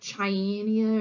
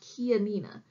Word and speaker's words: Chianina: head is it how you think this one's pronounced alright see why you might think this one's like China or China or this one originates in Italy and it's actually pronounced Chianina so these ones are also solid white personally